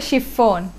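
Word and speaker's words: chiffon: আমার নামেও শাড়ি হয়, অ্যাকচুয়ালি এটার উচ্চারণ হবে শিফন, কালারটা জাস্ট ওয়াও।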